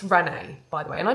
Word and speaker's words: Renais: events where you can really do something I think are so much fun because there was barely any and it's pronounced Renee by the way and I didn't know this but it's Emma Watson's gin brand.